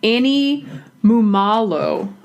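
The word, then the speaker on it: Annie Mumolo: kristin wig barb and star yes and um annie mumalo that's how you say her name um they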